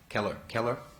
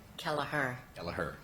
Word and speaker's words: Kelleher: Is it Kelleher? Kelleher. Keller? Kelleher. Got it. Okay, like it's spelled.